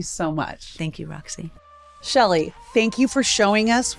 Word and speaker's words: Chely: Uh my name is Shelley, but it's spelled with with the C.